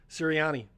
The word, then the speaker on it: Nick Sirianni: Nick, how do you pronounce this? Sirianni.